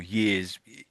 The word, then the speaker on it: years: I think the first time you read that through the first reading your years you're a little bit too heavy on the Y sound years.